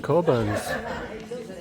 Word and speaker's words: Cockburn's: I think it's because I've never seen it advertised that it's pronounced coburns. Yeah. Not the other way.